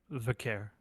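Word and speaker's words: Vaquer: And then, to cap off the 3-match pay-per-view card of Raw, we have Io Sky versus Vicor. How do you pronounce it? Vicor, I believe. Vicaire.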